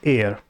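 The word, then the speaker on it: heir: आगे बढ़े, इसकी जो प्रोनाउंसिएशन है इसमें एच साइलेंट होता है और इसे बोलते हैं हम एयर, ठीक है।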